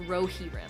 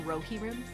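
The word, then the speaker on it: Rohirrim: Uh, someone says it's pronounced Rohi. The ride of the Rohi. It It's really pronounced Rohiim.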